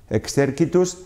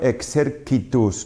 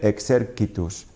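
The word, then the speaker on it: exercitus: Fijaos que dicho "excerquitus" no he dicho "excerquitus", esta c en latín clásico siempre se pronuncia como una consonante oclusiva sorda, con independencia de la vocal que tenga a continuación; por tanto no leeremos "excercitus" o "excerchitus", siempre "excerquitus". Bien, en la tercera declinación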